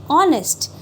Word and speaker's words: honest: The sound should be H, but we pronounce it as an honest.